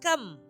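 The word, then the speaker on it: 柑: In Chinese, the word for orange is kam, which sounds like the word for gold.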